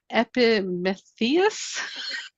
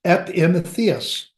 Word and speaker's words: Epimetheus: to give you some extra props on your pronunciation because I'm having a little more trouble with this one. I practiced it earlier. Epimetheus.